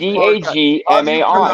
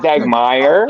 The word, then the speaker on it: Dagmar: Dagmar. It's Dagmar. Not Dagmeyer.